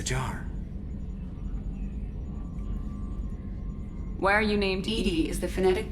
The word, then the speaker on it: EDI: airlock is a jar why are you named dd is the phonetic pronunciation of edi that is an acronym for